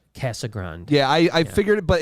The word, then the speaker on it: Casagrande: How's it pronounced? It's Andy Brandy Casagrande. Casagrande.